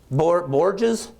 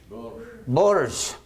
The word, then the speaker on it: Bourges: How about you give me the pronunciation there, sir? Which one? Borges? Bourges.